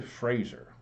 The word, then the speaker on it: Fraser: In an alarming note, he added that with respect to Fraser, rhymes with laser, we can better pay